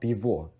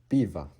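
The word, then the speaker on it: пиво: O, as I just mentioned, because this is not on the stress syllable, O is de-stressed as A. So it's not bivo, it is biva. Biva. And again, bivo, it is a Ukrainian pronunciation.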